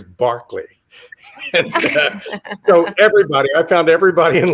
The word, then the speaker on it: Berkeley: a 10-minute lesson on how to pronounce it properly as barkley everybody i found everybody